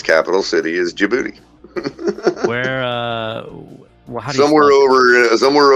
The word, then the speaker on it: Djibouti: it's capital city is Djibouti where uh somewhere over somewhere over near Africa Middle East area somewhere like that DJ I uh beat o-u-t-i I think Djibouti but the D is silent Africa just so you're